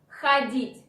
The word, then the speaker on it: ходить: I repeat that O after H is not stressed. This is why it should be pronounced like A. Ходить.